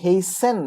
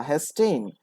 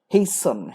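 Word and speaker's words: hasten: কিন্তু আমাদের উচ্চারণ ডাজেন্ট ম্যাটার। আমাদের হচ্ছে সিনোনিম দেখতে হবে এটার সিনোনিম কি তাহলে হেসেন বা হেস্টেন এটার অর্থটা কি এটার অর্থ হচ্ছে খুব দ্রুত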